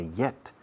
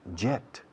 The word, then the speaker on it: yet: Hace 2 días decía yet. No digáis jet. Eso es reactor. Yet. Hierba. Hielo. Hiedra.